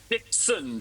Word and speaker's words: Dixon: And it is Hugo Dixon, just to get the pronunciation of my last name.